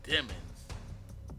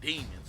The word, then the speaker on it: Demons: If you don't know who this guy is, his name is Jamel Maurice Demons. But I'm going to say Demons because it's spelled the same way. That's right, Demons.